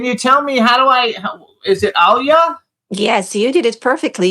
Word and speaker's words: Anya: Can you tell me is it Anya? Yes, you did it perfectly. You're one of the few people that actually pronounced my name perfectly from the first try.